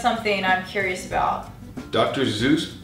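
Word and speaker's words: Seuss: Zeus pronounced his name so that it would rhyme with rejoice. Zeus rejoice? Doesn't really rhyme. That doesn't rhyme. But his original pronunciation was sois. Sois.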